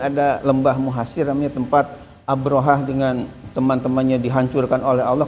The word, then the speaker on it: Abrahah: Itu Pak Ustaz ada mutawif yang kita dengar langsung mengatakan ini katanya namanya Abraham ya. ee Abraham ya pakai mim harusnya kan Abrahah. Nah, kemudian kita tulis juga bahwa bukan Abraham tapi Abraha dengan rujukan kitab ini, kitab ini.